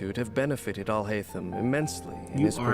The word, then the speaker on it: Alhaitham: No, it's Alhaitham. Okay? Ain't no Atham, ain't no thum, ain't no H up to now. The only H is pronounced with the H is him, not the no. Alhaitham.